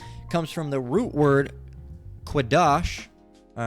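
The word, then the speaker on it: קֹדֶשׁ: It's Quadash. All right, not Kodesh, Quadash. If you're pronouncing it the correct way in the Paleo Hebrew.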